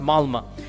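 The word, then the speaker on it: Malmö: Malma is it's is spelled with an O but is pronounced Malma.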